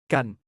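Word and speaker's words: กัน: Gun exclusively for close male friendships. Sounds like gun but shorter.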